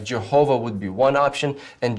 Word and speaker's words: Jehovah: And when they did that, they came up with the rendering Jehovah. Now, the problem with that is that those vowels do not belong to the word Yahweh.